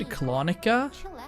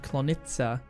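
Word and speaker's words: Klonica: Okay, I've said Clonica for such a long time, but Door Sulk here just pronounced it Clonita, which makes sense obviously if we're talking about like Czech or Polish things. So, not Clonica, it's Clonita. Makes sense.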